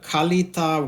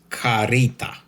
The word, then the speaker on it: Kalita: fast is using the Kalita Wave Dripper, Kalita with K, 155 glass series for 1 or 2 persons. In Amazon review, they say Japan import by Kalita, in brackets Carita, the way Japanese pronounce.